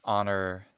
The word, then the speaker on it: honor: All English says honor, we don't pronounce that H, and a few others, but some are not pronounced.